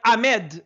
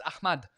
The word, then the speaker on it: Ahmad: Because some people go like Ahmed. Why Ahmed? Don't you see the H in the middle of his name? It says H. You pronounce the H in Arabic.